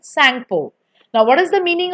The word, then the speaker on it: Tsangpo: Over there it is named as Tsangpo, Tsangpo. T is silent, Tsangpo.